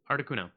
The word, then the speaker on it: Articuno: Articuno.